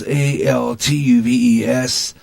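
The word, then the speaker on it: Altuve: and their ALCS victory over the Yankees jose pronounced el twelves alt you ves Tulse walks off Homer became the faller foglar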